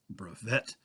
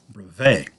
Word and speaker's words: brevet: It was what is known as a brevet rank, also pronounced brevet, although actually it's a French word, so it really should be pronounced brevet.